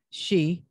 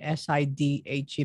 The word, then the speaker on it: Sidhe: Is Shee, Sidhe. So Sidhe. That's how you pronounce it, as she, but it's spelled a little differently there.